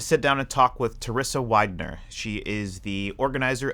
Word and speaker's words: Terrisa: So it's Terrisa. I always tell people, think Melissa, Terrisa.